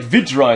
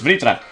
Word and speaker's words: Vritra: I kept on saying like Vitra and stuff, but it's of course Vritra.